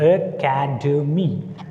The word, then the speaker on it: academy: Whenever a word begin with the prefix A, it takes stress on second syllable. Okay, here, CA is the second syllable. Academy, academy.